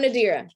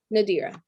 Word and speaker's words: Nadira: to keep it sane i'm nadira yep nadira that's how you say my name so i just wanted